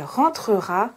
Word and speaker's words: rentrera: Si vous observez le mot rentrera, vous remarquez qu'il y a deux consonnes prononcées avant le E. Trera.